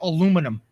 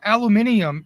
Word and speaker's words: aluminium: Randy most Americans say aluminum I'm gonna say all Americans say aluminum uh aluminium is the proper pronunciation of it because there is an i in it it's aluminium uh but